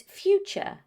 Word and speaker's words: future: The T-U-R-E ending is very often pronounced as ch. Let me repeat that, ch. That's why it's future, structure, nature, architecture. Now you know some of the most common pronunciation mistakes Spanish speakers make.